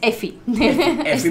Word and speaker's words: Efi: el dibujito de de efi de que se pronuncia ifi ifi Pero bueno es efi para nosotros es e vale vamos